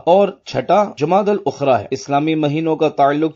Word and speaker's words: جمادی الاخری: لغت کے اعتبار سے ان دونوں مہینوں کے درست نام اور صحیح تلفظ یہ ہیں جمادی الاولیٰ، جمادی الاخری اور جمادی الاخرہ۔ پیارے پیارے اسلامی بھائیوں،